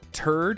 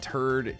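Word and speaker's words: Terd: Not turd as in poop, but turd, T-E-R-D, as if to rhyme with herd.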